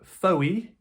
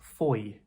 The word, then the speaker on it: Fowey: very surprised and impressed because it looks like "Fowey". Actually, the pronunciation is "Fowey". Fowey. Yeah, very simple "Fowey".